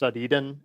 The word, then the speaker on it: edn: put a file called depths. edn or depths. Eden as we pronounce it um in a directory